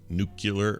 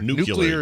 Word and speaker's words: nuclear: think they ever add new nucular Wayne that's right new no new nuclear nuclear is the correct do you think they